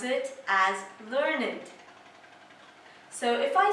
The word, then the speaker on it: learned: when we use learned as an adjective we pronounce it as learnand so if I say that someone is a